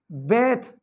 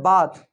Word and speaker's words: bathe: इसी तरह से बेथ, ध्यान रखिए बहुत सारे स्टूडेंट इसको बोलते हैं बाथ। गाइज नहाना इसको बेथ पढ़ते हैं, BATHE, इसका प्रोनाउंसिएशन है बेथ।